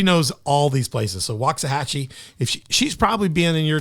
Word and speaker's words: Waxahachie: Waxahachie. Waxahachie.